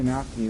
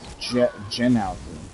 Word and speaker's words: gnocchi: It wouldn't be Gnocchi. It would be like Genalchi. like Genoa salami. Well, now you can put the nuts. I think it's just gnocchi. It is gnocchi. It's The G is silent. The G is like said like a Y.